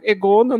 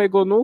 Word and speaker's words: Egonu: a gente, eles ensinaram que tem que ser Egono, não Egonu, como a TV nos ensinou, e várias outras pronúncias aí.